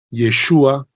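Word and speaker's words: ישוע: Josué viene a ser Jesús y pronunciado en pronunciado en hebreo yeshua amia Jesús El Mesías no Okay muchas gracias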